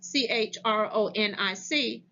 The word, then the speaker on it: chronic: on pronunciation truth or CH sounds like cook for example chronic CH ro n IC is pronounced chronic PS